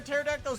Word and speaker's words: pterodactyl: Why can't you hear a pterodactyl's urination? The P is silent.